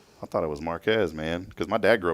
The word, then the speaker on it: Marquez: came to this area I would drive through Marquez and they're like no no no it's Marque yeah marqu or whatever and I was like I thought it was Marquez man cuz my dad grew up in the